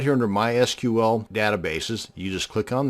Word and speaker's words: MySQL: And yes, it's pronounced MySQL, not MySQL.